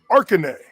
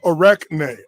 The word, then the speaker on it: Arachne: ovid tells us the tale of arcane or is actually pronounced arachne a maiden that bragged